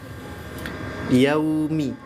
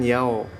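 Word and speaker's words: يَوْمِ: yuk Coba diulangin terus yaumi ke arah Suara u ya yaumi jangan Yao bukan Yao tapi yau yau ke arah suara vokal u ya karena suara vokal u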